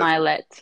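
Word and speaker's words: Mylett: I don't know how to pronounce his last Yes, name, but Ed Ed Milet. Milet, yes.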